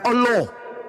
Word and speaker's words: Allah: Bukan Allah. Ini yang sering baca huruf O in dalam bahasa Arab ini. Bacalah Allah. Bukan solat. Solat. Bukan huruf O.